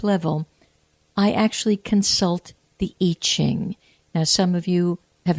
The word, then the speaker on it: I Ching: some of you have heard it pronounced Yi, like Y-I or Y-E-E, Ching, C-H-I-N-G, and it has to do with changes. So the Yi Ching or the I Ching is what is called the Book of Changes.